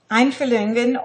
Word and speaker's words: Einfühlung: I will spell it in German, E-I-N. F-U-H-L-U-N-G. Einfühlungen, or empathy, as a concept, had great currency at the beginning of the 20th century.